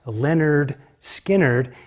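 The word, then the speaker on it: Lynyrd Skynyrd: uh 197 through their first album is called pronounced Leonard skinnard and of course the big song on that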